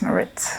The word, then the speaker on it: Maritt: name is Maritt. Okay, thank you. All right, I'll try and pronounce it the way you do.